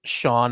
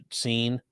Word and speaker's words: Sean: Saying, can you explain why Sean is pronounced Sean and not Scene? Because technically in Gaelic there's supposed to be a little accent over the E, and that's why.